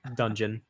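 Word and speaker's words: Donjon: spell that uh d-o-n-j it's dungeon just spelled weird oh god um maybe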